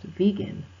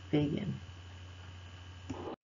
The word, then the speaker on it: vegan: correct pronunciation of vegan it has a long e it's pronounced vegan not vegan I am a home